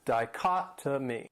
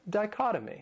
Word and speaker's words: dichotomy: This word has 4 syllables and the stress is on that second syllable. Dichotomy. And that third syllable, it has that schwa, that sound. Dichotomy.